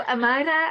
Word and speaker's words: Amayra: Today we have Amayra. Did I pronounce that correct? You got it. Amazing. Okay. So Amayra has climbed the corporate ladder.